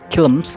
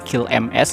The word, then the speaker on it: KILMS: gua ngeri Kharma jadi cara bacanya itu chums ya Jadi bukan qms gitu ya default Sorry untuk